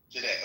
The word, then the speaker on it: Jide: You know, after you, is it Jiddy? How do you pronounce that? Jide.